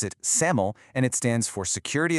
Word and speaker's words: SAML: You pronounce it SAML and it stands for security assertion markup language.